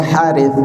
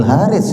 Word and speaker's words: Harith: Nama saya Harith ya.